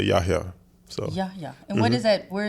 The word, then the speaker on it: Yahya: But if you ask how my name is pronounced, it's Yahya. Yahya. Yahya, yeah. So the H is not silent.